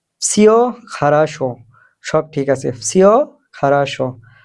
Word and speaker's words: Всё хорошо: Всё хорошо, всё хорошо ১ম এ যে ভি শব্দটা আছে এটার উচ্চারণ এফ এর মতো হবে কিছুটা। Всё хорошо উচ্চারণটা হবে ডাইরেক্ট সিও হবে না, উচ্চারণটা হবে всё хорошо, всё хорошо মানে সব ঠিক আছে।